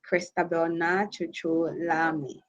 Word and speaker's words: Christabel Naa Tsotsoo Larmie: platform and as rightly said even though the pronunciation of my name didn't google but it's normal because yes and now it's christabel nacho lami so for your for your audience to know